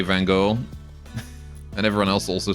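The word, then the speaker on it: Van Gogh: mean when I say Van Go and everyone else also says that. I I know how to actually pronounce his name. Van Go Van Goi. Van Goi.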